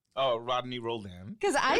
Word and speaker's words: Roldan: want me to say your name oh Rodney Rolan because I said it wrong the last time